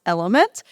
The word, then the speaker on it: LMNT: can grab is Element, which is spelled LMNT, but it's pronounced Element.